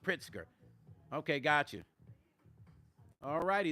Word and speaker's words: Pritzker: Okay, pronounced Pritzker.